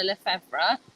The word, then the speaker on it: Lefevre: search my name levra so uh it's spelled r o s a n a l e f e v r e lra um I'm